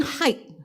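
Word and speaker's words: Haidt: It's a very good book actually and it actually Jonathan height uh that's how we pronounce his name.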